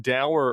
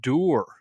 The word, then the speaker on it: dour: You used the word dour earlier. Apparently, it's pronounced dour. No, which seems absurd to me. I know this seems absurd to me, but apparently the correct pronunciation is dour.